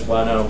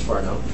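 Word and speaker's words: Whanau: Some of the state of the art in terms of developing systems like this, Farnow and Xvine, I know that says Wano, but it's actually pronounced Farnow, go up to, only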